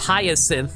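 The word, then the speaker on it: Jacinthe: Literally pronounced hyasin like the flower.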